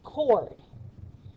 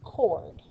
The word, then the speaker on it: chord: carefully this is pronounced chord so the ch doesn't make the ch sound it makes that sound so it's chord which is a segment